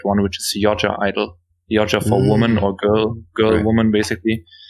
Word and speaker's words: (G)I-DLE: And then there's Idol, which is kind of right. And if you want to like pronounce it in Korean, that's probably the most correct one, which is Yoja Idol.